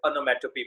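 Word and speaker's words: onomatopoeia: बहुत जन इसको बुरा मत मानिएगा, ओनोमोटोपोइया, ओनोमोटोपोइए, कुछ अलग अलग प्रकार के प्रोनाउंसिएशंस करते हैं। इट is actually pronounced as और pronounced in अ way which should be appropriate. ओनोमैटोपी, ओ ई आई ए, अंत में लगभग साइलेंट रहता है।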